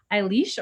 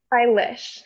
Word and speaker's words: Eilish: Eilís or Eilish? Eilish. Eilish. Okay. All right. Kind of like delicious too.